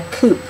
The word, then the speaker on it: coop: were kept in a coop. Coop. And that's another word for kind of like chicken house or with the wire around it. Coop rhymes with soup.